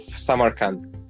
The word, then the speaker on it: Samarkand: And I'm thinking, because I know the city of Samarkand, and I'm hoping I'm pronouncing it right.